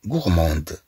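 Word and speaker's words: gourmande: طبعا في المؤنث نقول غورموند في المؤنث نقول غورموند نقول مثلا اون في غورموند طبعا نضيف أ فتنطق هدي.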